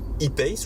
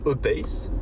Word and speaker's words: E-Pace: Voilà donc pour ce Jaguar E-Pace ou E-Pace. À vous de voir si vous le prononcez à l'anglaise ou à la française.